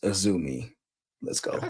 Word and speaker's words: Azumi: It's and it's pronounced Azumi.